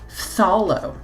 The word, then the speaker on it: Phthalo: Wow, how do you pronounce that? Phthalo.